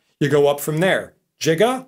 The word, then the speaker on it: giga: go up from there jiga a lot of people pronounce that giga that's 10 to the